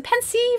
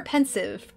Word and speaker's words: Pensieve: bit not much pensive is a Pensieve or pensive pensive but pensive makes you think it's the word that's pensive is anyone color in